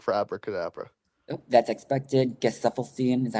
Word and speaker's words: Gesaffelstein: Gesaffelstein, is that how you say his name?